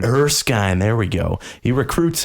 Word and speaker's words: Erskine: Eric Stein how do you say that Ben Erskine Erskine there we go he recruits him for a